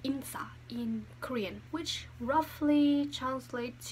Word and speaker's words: 인싸: Here we have insa and asa. That's how you pronounce it.